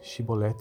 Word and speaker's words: chibolete: respondesse que não diziam Então diga chibolete se ele dissesse a shibolet sem conseguir pronunciar corretamente a palavra prendi o no e